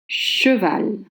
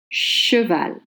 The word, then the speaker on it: cheval: Cheval. Cheval.